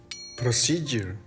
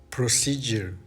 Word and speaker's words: procedure: Cada vez que veas una U al lado de una D en una vocal que no está acentuada, vas a decir Y. Y. Education. Education. Graduate. Graduate. Schedule. Schedule. Procedure.